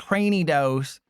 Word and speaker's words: Cranidos: Mimi Q, and it's pronounced Lony, and it's pronounced Cranyos, and uh it's pronounced uh technically Gardevoir is pronounced both ways.